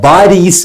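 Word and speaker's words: باريس: അപ്പോൾ ഇവിടെ ബാരീസ് എന്ന് തന്നിട്ടുണ്ട്. പാരീസിനെ പ എന്ന ഉച്ചാരണം അറബിയിൽ ഇല്ലാത്തതുകൊണ്ട് നമ്മൾ പാരീസ് എന്നതിനെ അറബീകരിക്കുമ്പോൾ അത് അറബിയിൽ ബാരീസ് എന്നാണല്ലോ ഉപയോഗിക്കുക അതാണ് ഇവിടെ ബാരീസ് എന്ന്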